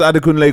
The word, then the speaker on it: Adekunle: If I was Adekunle Gold, I'll send Ross a DM. Yeah, just politely. Like, yo, this is how you pronounce my name. Yeah. This is how you Ade Kunle.